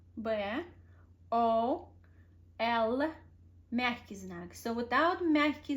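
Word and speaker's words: боль: But when you're gonna say bol, you pronounce L sound very softly, as soft as you can. You change the frequency of the sound and make it bol.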